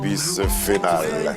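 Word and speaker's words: Bisphénol: mais ça doit changer, Bis Phénal, c'est comme ça qu'il faut le prononcer.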